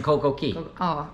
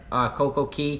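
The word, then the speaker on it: CocoCay: That's our third time going to Coco Key. Coco Yes. K. I understand it's kind of pronounced both ways. Yeah. I think it's supposed to be Key, but Coco K kind of sounds cool too.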